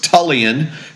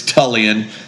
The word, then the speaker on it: Tullian: in all my growing up years that chigan rhymes with religion sometimes that helps people chig so it's tulan some people go tulan or tlian or you know whatever but it's tulan um and chigan and for for whatever reason